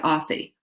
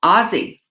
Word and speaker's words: Aussie: pronunciation too thanks maureen because i would have said aussie no ozzy okay and a kiss